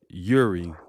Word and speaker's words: Jiri: So introducing my guest, Yuri. Is I What's up?